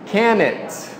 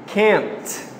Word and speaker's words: can't: O que eu ouvi foi can it. Não é can it, é can't. Can't. O N vai direto para o T.